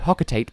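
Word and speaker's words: Hocotate: And yes, I'm going to call it Hocketate because yes, they pronounce it Hocketati in the game, but that's because they're speaking the Corbite language.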